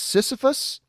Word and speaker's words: Sisyphus: putting out now max cohen is saying is pronounced sisyphus sisyphus okay thank you max for that but